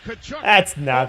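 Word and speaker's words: Tkachuk: Here we got Bath trying to get at somebody and McCabe is escorting Kachuk to his side of the ice saying your room is That's how you say his name.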